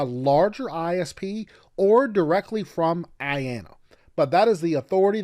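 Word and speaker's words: IANA: the internet Authority for names and numbers I pronounced Ayanna now most people get IP addresses from their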